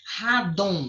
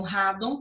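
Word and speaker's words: rádon: Radon, radon, eu coloquei aqui para você, ó, é um gás radioativo muito pesado, né? Muitas pessoas nem conhecem. Então, radon tá aqui, ó, paroxítona, terminada em on, obrigatoriamente acentuada.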